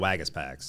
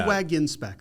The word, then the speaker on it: Waggenspack: And so anyway, there are a lot of Waggenspacks. I'm a Waggenspack though. Oh, so did I say it wrong? That's all right. Okay. I get it all the time. Waggenspack. You're right. There is an N there.